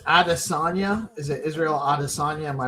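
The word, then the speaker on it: Adesanya: Is it Israel Adisagna? Am I pronouncing that right?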